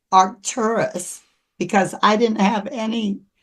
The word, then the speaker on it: Arcturus: point in time and they pronounced it with an accent on the R. And it wasn't really until I heard someone with a British accent refer to Arcturus that I realized um that's what they were saying.